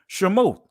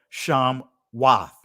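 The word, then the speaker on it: שמות: If you look at the Hebrew, if you have a Hebrew Bible, you'll see Shemot, or in the ancient Hebrew, Sham Wath. The Wath or the Ot, that is the feminine plural.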